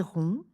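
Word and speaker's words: héron: Petit indice, ce mot commence par un H aspiré ou disjonctif. Donc on ne fait pas la liaison et on dit j'ai vu 20 dans les marais.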